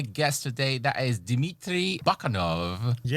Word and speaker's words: Bakanov: Actually, my name is technically uh Dimmitri Bakanov. Bakanov. Yeah, the accent is different. It's a second syllable that you have to hit.